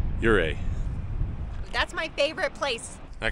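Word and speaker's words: Ouray: the way it's pronounced uray it looks like uray but it's your and then like Canadian a uray that's my favorite place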